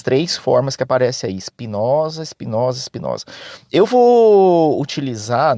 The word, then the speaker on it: Espinosa: filósofo Espinosa hoje é sobre o Espinosa às vezes também pronunciado espinhoso negócio fechado é a